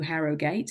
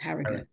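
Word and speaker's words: Harrogate: how to pronounce it, it will tell you Harogate. And it's not Harogate, it's Harriut.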